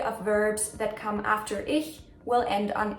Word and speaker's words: ich: the sound in a it's not ich it's not ish it's ish I think it's easier